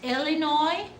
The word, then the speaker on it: Illinois: Is this Illinois or Illinois?